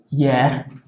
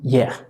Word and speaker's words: hier: Luego, la H básicamente es como en español, es decir, no se pronuncia. Por ejemplo, en la palabra hier, que equivaldría a decir ayer, hay una H, no suena.